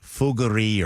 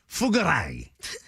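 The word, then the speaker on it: Fougère: I wear a cologne that is made by Tom Ford, and I think it's pronounced Fougerie or something. I don't know. It's F-O-U-G with the apostrophe in between the E and the R-E. Fougerie. Gotcha.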